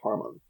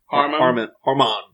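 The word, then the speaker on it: Hamon: where we learn about hormone h-a-m-o-n is the word haman but they always pronounce it with an r hormone hormone hormone hormone something like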